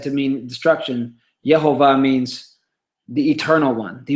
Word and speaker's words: Yehovah: And then another form of this is the verb that we get the noun Yod He Vav He, which we pronounce Yehovah.